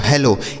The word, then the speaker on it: hello: यहाँ लिखा है ई से एक ही मात्रा, यहाँ डबल एल है, तो अगर कोई भी अक्षर दो बार आता है तो एक अक्षर साइलेंट होता है, तो यानी एल से हो गया ला। क्या हो जाएगा? पहले वाले एल से हो गया ला और दूसरा वाला एल साइलेंट हो जाएगा, इस ओ से ओ की मात्रा।